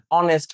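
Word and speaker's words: honest: অনেস্ট ম্যান, অনেস্ট, এটা vowel sound চলে আসছে, সেজন্য আমরা এখানে অ্যান ব্যবহার করছি।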